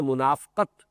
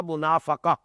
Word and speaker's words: منافقہ: جو ہے وہ بھی اگرچہ اردو میں ہم اس کو تلفظ عام طور پر کرتے ہیں منافقت، لیکن عربی زبان میں تو یہ گویا کہ اسی وزن کا لفظ ہے، باب مفادہ کا،